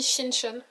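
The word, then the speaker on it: 신촌: Ça s'écrit Sinchon mais je crois que ça se dit Shinchon.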